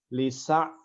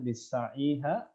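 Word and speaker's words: لسعيها: Dulu juga ada ya, saya juga pernah tuh baca, misalnya ada baca lisa ya. apa di surah apa? Lisa'iha, harusnya Lisa'iha. lisa'iha Lisa'iha rodiyah.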